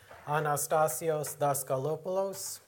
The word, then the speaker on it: Anastasios Daskalopoulos: My name is, well, it's pronounced like it's spelled, Anastasios Daskalopoulos.